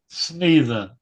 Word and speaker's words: Snethen: Snethen. It rhymes with he.